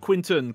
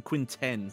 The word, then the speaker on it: Quinten: Not Quinton, Quinten. Not Quin-9, Quinten. Yep, that's how it's spelled.